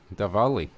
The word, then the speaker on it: Diwali: They spell it with a W, but it sounds like a V. So it's Oh, is it Diwali. Diwali? Diwali.